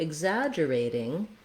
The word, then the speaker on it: exaggerating: Then when we go to exaggerating, we have a difference in the TING and in the stress. So for exaggerating, we stress on the za syllable.